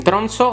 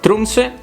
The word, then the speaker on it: Tromsø: phenomenon can be observed in Tromso or better pronounced Tromsø, from the end of August to April.